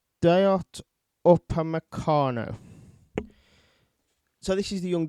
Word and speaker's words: Upamecano: Other names that have been mentioned are, let me just find this, how you pronounce it, Upamecano. Dayot Upamecano.